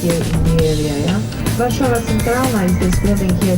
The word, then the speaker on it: Warszawa: S and Z together is pronounced as sh.